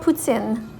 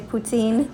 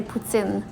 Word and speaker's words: poutine: what we have next this is called putsin that's how we pronounce it here in canada you guys probably say poutine or poutine but we say putzin and here we have